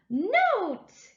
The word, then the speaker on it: note: And abracadabra, we add the magic E and we get note.